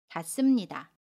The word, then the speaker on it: 닿습니다: 가슴이 라고 발음 에어 봤습니다 는 같습니다 이렇게 발음합니다 같습니다 우리 이번에는 발 이를 볼게요 발에 받침 2일과